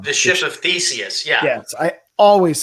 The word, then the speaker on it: Theseus: The Theseus, I always say it wrong. The ship of Theseus.